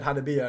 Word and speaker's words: Hanabiya: The look of the look of disgust when I said Hanabiya, and he was looking at me like, "What?" And I was like, "Japanese pronunciation, mate.